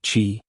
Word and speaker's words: qi: In Feng Shui, energy, or qi, pronounced qi, is everything.